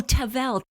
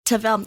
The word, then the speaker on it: Tavel: And can you pronounce the name of the region again for us? Oh, Tavel. Tavel.